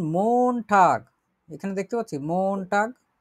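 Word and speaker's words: Montag: মন টাগ উচ্চারণ করি, মন টাগ মানে হচ্ছে সোমবার, সোমবার।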